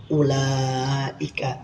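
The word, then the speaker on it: أُولَٰئِكَ: Selanjutnya kita memasuki bacaan atau pokok bahasan kalimat ulaika. Ini wunnya. Wya ini tidak berharakat. dan tidak dibaca atau tidak dianggap apa ini bahasanya ada tapi tidak dianggap ada tapi tidak ada wujuduka kal adam adanya seperti tidak ada ini kalimat ulaika yang wunnya itu tidak dianggap atau tidak dibaca Baca saya contohkan cara bacanya.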